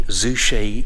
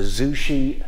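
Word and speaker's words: Zouche: very beautiful that's the Zushi G I think I pronounced that right z u c h e the Zushi Night Gallery which is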